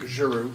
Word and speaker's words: Giroux: Randy Giroux, did I say that right? Good job, Tom. I'm sorry? That was a good job. Oh, was it right? Close. Good evening, everybody. My name's Randy Giroux, soft G.